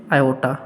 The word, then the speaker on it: iota: जिस आई को हम क्या पढ़ेंगे? प्रोनाउंस्ड क्या करेंगे? आयोटा। ठीक है, आयोटा प्रोनाउंस्ड करेंगे।